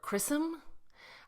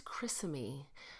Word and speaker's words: Chrysame: One of the websites I was looking at about pronunciations called her Chrysame. I just don't feel like that's right. I think it's Chrysame. A few other sites supported that. So I'm going with Chrysame of Thessaly.